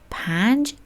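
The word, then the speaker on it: پنج: place or location P plus A plus N plus J. There I skipped mentioning the vowel but here I'm writing it for you so that you can learn the pronunciation together. Pange means five.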